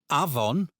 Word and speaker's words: afon: In Welsh, this sounds like the English V. For example, Afon means river.